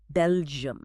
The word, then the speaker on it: Belgium: And the same goes for the country, Belgium. It's often mispronounced as a two-syllable word like Bel-gi-man, but it actually requires three. Bel-gi-um.